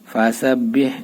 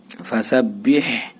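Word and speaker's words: فَسَبِّحْ: ফাজার ফা, সিন বাজার সাব, ফাসাব, বাহাজের বিহ, ফাসাবিহ, এই যে তাসদিদ দুইবার উচ্চারণ করতে হবে, ঠিক আছে। এর আগেরটার সাথে আর এর পরেরটার সাথে বা এর নিজের সাথে। ফাসাবিহ, এই হাঁটা চাপাই বলতে হবে।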